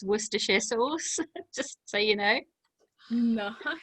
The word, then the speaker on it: Worcestershire: your viewers um if you ever need to pronounce worcestershire sauce it's worcestershire sauce just so you know no that's how you